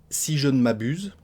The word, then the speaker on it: si je ne m'abuse: On va manger des lettres, on va la prononcer si je ne m'abuse. Si je ne m'abuse, donc le nœud de la négation, vous avez compris qu'on le mangeait à moitié, si je ne m'abuse,